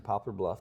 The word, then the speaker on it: Poplar Bluff: Well, That's how I read it in Popular Book. Yeah. People always say popular. I'm like, what's popular about it?